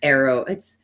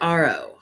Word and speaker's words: Ariel: and her coven burn Arrow. His name is spelled Ariel, but they pronounce it Arrow. So I don't know if I'm saying it right or wrong.